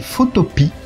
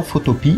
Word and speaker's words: Photopea: Donc ce site, pas plus de suspense, c'est Photopea, si je le prononce à la française.